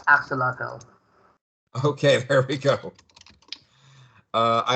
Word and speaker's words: axolotl: Does anyone know how to pronounce that? It's axolotl.